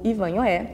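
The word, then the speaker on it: Ivanhoe: Deixa eu te explicar essa é a pronúncia original de acordo com a fonética da língua inglesa e é a fonética que o clube optou por usar tanto que não tem aqui o acento agudo mas aqui no Brasil quando o livro foi traduzido pela primeira vez acabou se popularizando a pronúncia aportuguesada que seria ivanhoé mas independentemente do como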